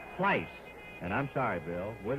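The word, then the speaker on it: Pleis: And I butchered the pronunciation of his name. So with everybody watching, let's let's straighten it out. The leftander is Bill Pice.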